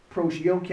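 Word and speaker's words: προσευχή: prayer the Greek uh the word is okay approach yoga is spelled p-r-o s-e-u -c-h-o approach yoga the definition very key is also similar to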